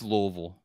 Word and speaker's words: Louisville: the Sluggers you know it's Louisville like like many people say like you have to say it like you have marbles in your mouth but you know that